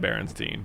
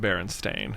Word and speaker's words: Berenstain: It's Berenstain Bears is how you say it. And everyone remembers it being spelled Stein because you say it Berenstein, but it's actually spelled Berenstain. Berenstain. With an A instead of an E.